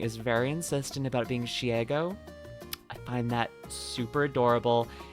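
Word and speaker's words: Shego: At least you pronounced Shigo properly. I know, but can I admit something? I think that when Amelie is very insistent about being Shiego, I find that super adorable and endearing, and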